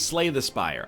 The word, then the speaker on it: Slay the Spire: please the spire plays slay the spire I said that like